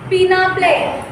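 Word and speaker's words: peneplain: Okay, प्लेन fuelled bye erosion are called as पीना प्लेन. इसका pronunciation आप पीनी नहीं करना है. सॉरी पीनी ही करना है, पीना बोला है. पीनी प्लेन.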